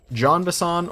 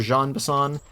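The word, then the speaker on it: Jean Bison: enemy of this episode his name is John vassan or Jean besan I'll be using both of those kind of interchangeably and then the bird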